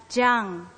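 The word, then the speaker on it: 江: The famous Yangtze River in China, the sound of its water against the rocks is gong, gong, gong. Hence, the character takes its sound and is pronounced as jiang.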